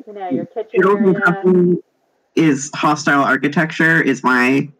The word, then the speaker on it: Noodles: And because of the Nuddle, the is that how it's pronounced? Nuddles? Noodles.